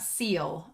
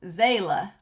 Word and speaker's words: Seele: So then the last thing we've got on here is the thing about seal, okay? German for soul, pronounced Seele. A committee variously shown to be of, oh, I'm still calling it SEAL, shown to be of